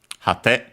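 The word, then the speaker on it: 果て: Its accent is okay on the last syllable, hate.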